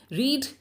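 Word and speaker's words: read: जो से रहते हैं सिर्फ रीड एक ऐसा है जिसमें की थोड़ा सा बोलने में डिफरेंस ए जाता है रीड रेड इसके अलावा कुछ ऐसे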